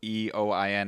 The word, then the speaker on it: Eoin: So Eoin is not very intuitive, but that's an Irish name. So if you reach me in the corridor and you call Ian, sometimes I won't answer, but that doesn't mean I'm ignoring you. So the E is silent.